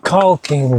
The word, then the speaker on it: caulking: I am also going to dig out my caulking gun. Gotta pronounce the L.